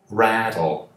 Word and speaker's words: rattle: Rattle, rattle. Esse T se transforma em um D, né? Como em better, better, water, rattle. Termina em L, rattle.